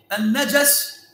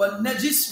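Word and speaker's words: النجس: Il dit Al-Najas ou Al-Najis ou Al-Najus, Muthallath Al-Jim. D'accord ? Ça, c'est un mot qui a plusieurs prononciations possibles. On peut mettre une fatha sur le Jim, une kasra et une dhamma.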